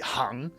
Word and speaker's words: 行: But yes, that is the word you would use for rows in a spreadsheet, hang.